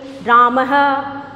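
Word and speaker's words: रामः: विसर्ग लगता है और इसका उच्चारण हम करते हैं तो है कि ध्वनि निकलती है कि ध्वनि है जैसे हम बोलेंगे राम हक तो राम में से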